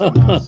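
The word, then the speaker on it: חמס: I mean, yeah, it's pronounced Hamas, so Sorry to steal your thunder, but yeah, you're right.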